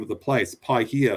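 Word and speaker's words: Paihia: bay of islands yes was i mispronouncing that no no what happened was um a missionary was meeting a uh a maori chief and he said oh it's pi here pi meaning good and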